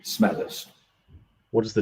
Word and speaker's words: Smethurst: you just told me your name when i pronounce it correctly please could you introduce yourself yes i am smithers what does the stand for nice